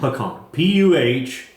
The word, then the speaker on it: pecan: It's not Pecan. It's pecan. Pecan. Puhkahn. Pecan. That's how it's pronounced.